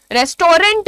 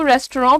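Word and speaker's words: restaurant: ए is definitely, भैया rent नहीं होता है, रेस्टोरेंट बोलना इसीलिए गलत होता है, इसीलिए उसको रेस्टोरेंट प्रोनाउंस ही किया जाता है। आप देखें यहाँ पर आपको स्पेलिंग होगी REST, रेस्ट आता है ना, उसके बाद ओ का साउंड देने के लिए AU लिखा जाता है।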